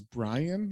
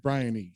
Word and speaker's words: Bryony: say her name was Brian? Like Scribbly's like Brian, and she's like, no, it's Brian with a Y, Bryony.